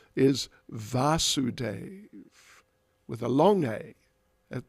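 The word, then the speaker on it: Vāsudeva: In this case, the father is Vasudeva with a short A at the beginning, and Krishna as the son, but given basically the same name, is Vasudeva with a long A at the beginning.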